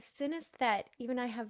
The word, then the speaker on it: synesthete: It's synesthete. Even I have Synesthete.